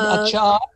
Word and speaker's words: achar: I guess the word achar, the word achar for pickle, is in Afrikaans. They pronounce it acha because they don't pronounce the R, acha, achar.